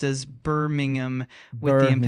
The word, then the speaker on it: Birmingham: Uh, the city name Birmingham is pronounced as Birmingham with the Birmingham.